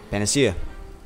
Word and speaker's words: Panacea: Panacea.